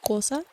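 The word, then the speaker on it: Xhosa: from, I should know a language called Kosa. Which, apologies, that's not the most ASMR thing to say. Kosa. It's known as like the clicking language. It's spelled like Xosa.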